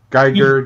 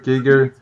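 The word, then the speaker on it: Giger: Giga things, I guess. Giga. Geiger, Giga. It's a German name, it's Giga.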